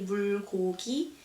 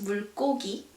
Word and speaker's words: 물고기: So in this case, it's pronounced like 물고기. We don't say 물고기, but it's 물고기.